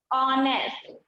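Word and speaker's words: honest: एक और वर्ड देखो, ऑनेस्ट। यहाँ पर एच को साइलेंट रखेंगे और सिर्फ ओ को लेकर क्या बोलेंगे, ऑनेस्ट।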